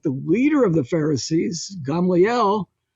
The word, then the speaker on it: Gamaliel: leader of the pharisees gamaliel gamalio some people pronounce his name but gamliel we would say in hebrew he saved the